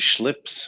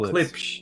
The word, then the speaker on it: Klipsch: Schlips or whatever. Schlips. I don't know how to say his name. Kaplich or Oh, Klipsch.